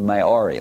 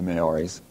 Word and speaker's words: Maori: One is from New Zealand, and it has to do with the Maori. Let me spell that.